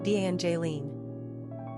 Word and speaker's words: Evangeline: Pronunciation, Evangeline.